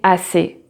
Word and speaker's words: assez: Or j'en ai assez, j'en ai assez. So you see here, the Z is never pronounced, but you can have, for example, the word gaz, gaz.